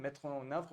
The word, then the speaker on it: mettre en œuvre: So the word is a good one, a great one, mettre en œuvre, but the pronunciation was not correct, so I'm getting it to you now.